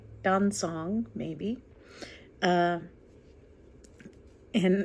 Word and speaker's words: Dan Cong: i'm saying that right don song maybe uh and it's not dan kong like it looks so now when people